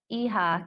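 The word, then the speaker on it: hija: and there she is the pronunciation of aha can be a little tricky or EVO if it's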